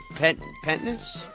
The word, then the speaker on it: penance: I paid my penance. Penance. I've paid my penance. Penance. Penance? Penance. Pen. Remember, it's pen, not peen.